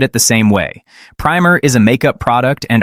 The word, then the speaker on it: primer: However, when using the definition of a small book that teaches children how to read it, it's pronounced with a soft I. "Today I learned that primer is not pronounced with a long I."